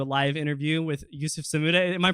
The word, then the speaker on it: Sammouda: getting to do a live interview with Youssef Samouda. Am I pronouncing that right? Yeah, it's Sammouda, but it's Sammouda.